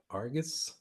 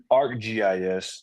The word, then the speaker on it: ArcGIS: How do you pronounce that? Argus? ArcGIS.